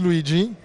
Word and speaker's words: Luigi: please tell us your name my name is luigi luigi luigi luigi i've got it right luigi yeah that's the right pronunciation thank you thank you so your take